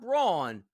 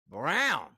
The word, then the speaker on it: Braun: That's Christian, not Brawn Brown gets the big deal here.